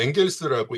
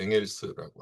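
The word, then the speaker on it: Engels: 보통 이 사람은 이제 엥겔스라고 읽죠. 영어식 그 발음입니다. 그래서 독일어식 발음은 이제 엥겔스라고 하죠.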